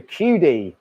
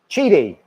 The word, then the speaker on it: Qidi: you just joined us this is how we pronounce it again the QD did we call it the QD I made a note of it Chidi it's the Chidi it's the Chidi x max 3.